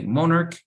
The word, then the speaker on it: monarch: Muchas palabras en inglés, por ejemplo, que tienen la CH, se van a pronunciar como, por ejemplo, en la palabra technology, y no decimos technology, right? So we say tech, monarch, and so on.